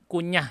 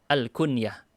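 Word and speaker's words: كنية: Itu walaupun kebacanya kayaknya kunyah gitu ya, bukan ya, bacanya Al-Kunyah. Kunyah itu gelaran-gelaran dengan nama Abu atau Ummu.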